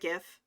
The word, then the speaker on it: GIF: Oh, like GIF is a hard G as opposed to JIF. I'm with you on that. I pronounce it GIF.